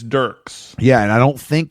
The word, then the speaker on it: Dierks: He pronounces it Dirks, but I'm not, I'm not going to do him that service. Okay, so his name is, he spells it Dierks, like Dirks with an IE, right?